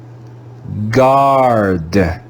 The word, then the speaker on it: guard: word the u will be silent we'll read it as if it was spelled g a r d let's read the word together guard guard guard here's another